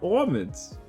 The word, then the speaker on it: almond: It does not rhyme with salmon, so it's all almond.